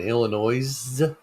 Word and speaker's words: Illinois: I love Chris oh the S is silent in Illinois Arkansas Michael Rambo with